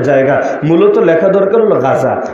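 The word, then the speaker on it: غزة: মূলত লেখা দরকার হলো গাজা বাংলায় বলে গাজা আরবিতে উচ্চারণ হলো গাজ্জা গাজ্জা ওই গাজ্জা শব্দটারে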